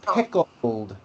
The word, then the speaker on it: pickled: Before I begin, note the L sound in the word pickled. Pickled. Bring your tongue up on that L.